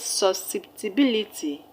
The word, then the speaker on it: susceptibility: The word susceptibility has 6 syllables as well. Susceptibility. The stress is on the third syllable from the end of the word.